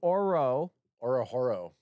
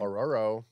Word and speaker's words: Ororo: Orohoro. No, he does. You don't pronounce the H. Oro. It's like row, row, row your boat. Ororo? Ororo is how you pronounce his name. Ororo.